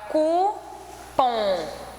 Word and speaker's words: cupom: a letrinha é cupom a palavra cupom é oxítona porque o pum é a última sílaba mais forte tá e a palavrinha